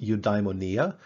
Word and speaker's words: eudaimonia: to pronounce it's not to about it's it's pronounced eudaimonia once you give it like the english transliteration